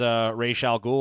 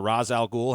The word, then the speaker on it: Ra's al Ghul: Pictured here is Ra's al Ghul or Ra's al Ghul, however you want to pronounce it, who was also a vigilante crime